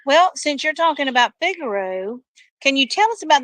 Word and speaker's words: Figaro: where you where you want to go it's Vigoro of course and how are you spelling that because you're saying Vigoro but it's figuro but it's pronounced fi G a r o